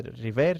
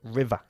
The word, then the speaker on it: river: No se dice river, sino river, como si acabase en A.